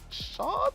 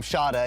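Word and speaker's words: Schade: Kevin Shard, if I pronounce that right, Jamie? Yeah, look, I'll tell you how to pronounce his name, Shada, and then you can tell me everything else about him.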